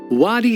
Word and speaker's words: wadi: whose nickname is Wadi not only does Wadi rhyme with his first name of Saudi but the country of